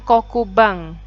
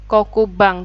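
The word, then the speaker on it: 黒板: Alat tulisnya kapur, itu bahasa Jepangnya kokubang. Ya. Kokubang, tulisannya kokuban, kokuban, tapi bacanya kokubang.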